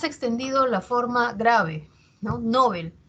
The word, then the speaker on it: Nobel: escucha que se pronuncia Nobel no sin embargo si verificamos en el diccionario panhispánico de dudas esa palabra su origen es aguda esa palabra es aguda o sea la pronunciación Debería ser Nobel e y quizás en